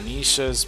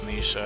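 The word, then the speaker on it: Nesha: Um, I didn't know the lady name was Nisha. I guess I could have figured it out, but it's spelled differently. It's N E S H A.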